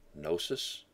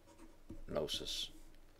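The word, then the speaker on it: γνῶσις: see often in scripture the Greek is is nosis transliteration is g n and then that's a long o o sound nosis knowledge knowledge of Christ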